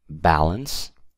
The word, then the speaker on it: balance: amount then we have balance balance these stress is on the be a balance okay then we have